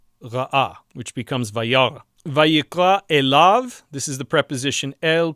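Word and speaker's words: אֵלָיו: Vayikra elav, this is the preposition el plus the third masculine singular pronominal suffix, to him. Elav, and the yud is not pronounced.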